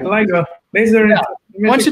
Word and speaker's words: LIGO: Correct, LIGO.